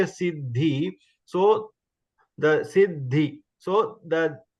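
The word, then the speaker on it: सिद्धि: But when we pronounce, we say Sid, the is half, and the is pronounced full.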